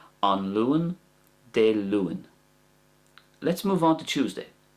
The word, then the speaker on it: Dé Luain: And I'm trying to soften the A by pronouncing it the following way. De Luan.